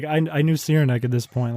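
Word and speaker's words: Cyranek: been a while but sierra neck sierra neck it's like c-y-r-a-n-e-k oh i've seen them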